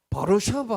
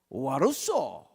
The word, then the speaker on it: 와르소: 아침에 그다음 주일이니까 여기서 출발해가 다시 프랑스 드골 공항을 다시 해서 이제 바르샤바 들어가야 되는데, 이야, 그 유럽에 가가 바르샤바 하면 알아듣는 사람이 하나도 없어. 우리 발음이 이래요.